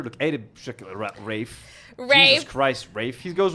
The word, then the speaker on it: Ralph: Apparently, Rafe is the posh British pronunciation of Ralph, which doesn't make sense. Ralph has a ph in it.